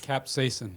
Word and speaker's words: capsaicin: Yes, capsaicin.